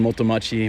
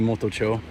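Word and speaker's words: Motochō: yeah i used to always say i live in moto machi moto machi but it's actually motocho and i didn't realize i saw one of those signs i was like oh okay i've been saying it wrong nomadic has mods you're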